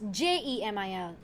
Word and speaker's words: Cemil: Yeah, you spell it as Cemil, but you pronounce it as Jemil.